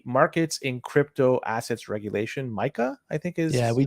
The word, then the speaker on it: MiCA: due to the markets in crypto assets regulation Micah I think is yeah we talked about M before on the show yeah and it's pronounced Micah right yeah y so these rules come into